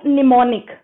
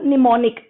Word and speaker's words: mnemonic: now this we call mnemonic this we call mnemonic first m is silent how we can memorize